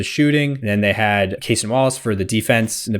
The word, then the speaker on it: Cason Wallace: If he just is like, I'm going to start Carson Wallace instead of Alex Caruso. I want his energy off the bench. Cason Wallace.